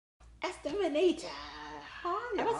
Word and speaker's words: Esther Manito: Esther Manito.